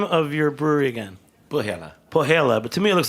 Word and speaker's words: Põhjala: Pohjala, but to me it looks like Põhjala. Pohjala. They pronounce things.